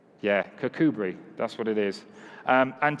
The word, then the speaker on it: Kirkcudbright: Yeah, Kirkcudbright, that's what it is.